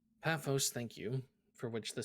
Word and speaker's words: Paphos: a second page nine not page nine that's pathos paphos thank you for which the city of for